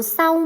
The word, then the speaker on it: เศร้า: ใช่ ไหม คะ เขา เศร้า มาก ที่ แมว ของ เขา ตาย คำ ว่า เศร้า คำ นี้ เห็น ไหม คะ ศ. ศาลา ควบ กับ ร เรือ จะ ไม่ ออก เสียง รอ เรือ เห็น ไหม คะ อ้า